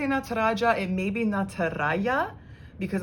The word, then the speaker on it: Nataraja: fun one as well nataraja and now i say nataraja it may be nataraya because i know sometimes uh jays are pronounced as a y so again if you